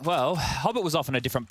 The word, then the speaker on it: Hobbit: have a fight here hobbit rhymes with pop it like the flashes will